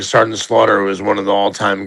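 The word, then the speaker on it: Sgt. Slaughter: Yes, and she was revealing old wrestling cards, and then I think they got to Sergeant Slaughter, and she pronounced Sergeant Slaughter as SJT Slaughter.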